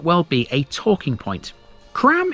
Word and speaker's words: Crambe: Cram is spelled C R A M be E, which in any local dialect should be CRM. Apparently, some of the locals prefer to say this as Crom, which sounds a lot more sophisticated.